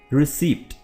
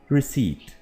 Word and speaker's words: receipt: सो निश is the correct pronunciation. So preposition bow, bow and niche. जी, receipt नहीं, receipt, genre नहीं बल्कि genre, ठीक है, genre।